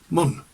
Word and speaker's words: Mynd: Now it's spelt Mynd, but it's pronounced in Radnorshire Mun.